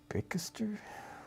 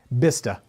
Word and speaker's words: Bicester: A lot of people in the chat seem to think it's Bicester. No way. I don't think so. No way, Somebody guys. else says Bister. Let's take. Oh, here I go. Yeah, Bista.